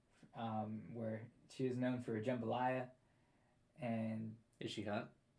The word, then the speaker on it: jambalaya: And it mentions that she used to run the soup kitchen down the street, where she is known for jambalaya. And Is she hot? It's pronounced Jambalaya.